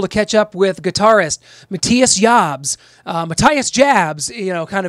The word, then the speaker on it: Matthias Jabs: that was able to catch up with guitarist Matthias jabs Mattias jabs you know kind of in to put in an American Way I mean his name is pronounced Matthias jabs that's how we will refer to it as